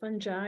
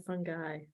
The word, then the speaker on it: fungi: Is it fungi or fungi? It's pronounced differently by different people. So fungi. I've heard it pronounced both ways.